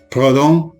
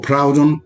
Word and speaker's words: Proudhon: Los nombres más famosos son Proudhon o Proudhon, depende de cómo si lo pronuncian en francés o en inglés.